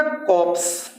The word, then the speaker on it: corpse: कॉप्स। कॉप्स, कॉप्स का मतलब शव या लाश, जिसको मृत शरीर, डेड बॉडी होता है ना, उसी को कॉप्स कहते हैं। यहाँ आर साइलेंट है, कॉप्स, ठीक है?